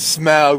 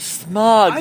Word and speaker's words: Smaug: the correct pronunciation is smog were you not paying attention during the three hours and I was a kid I thought smug that's funny because it's Smokey like a dragon